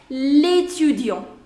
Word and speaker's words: l'étudiant: So that means, see, if you would have said this word without L apostrophe, the pronunciation would have been étudiant, étudiant. But now with this, it joins and it becomes l'étudiant.